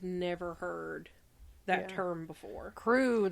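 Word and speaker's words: krewe: heard that term before crew though it's spelled with a K yeah it's k r e w s yeah uh this Society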